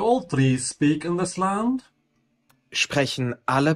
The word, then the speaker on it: Land: Also notice that land is pronounced with an open A. La. Yeah, it's not land, it's land.